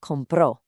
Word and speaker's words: compró: Él or ella compró. Again, hit that accented o.